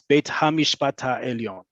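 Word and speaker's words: בית המשפט העליון: no way around that you will hear people incorrectly say beit mishpatellion that is incorrect it's bait hamish bata elion um just like i'm going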